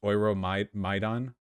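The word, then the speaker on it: Euromaidan: Just so you know, your maiden is pronounced Oiro Maidan.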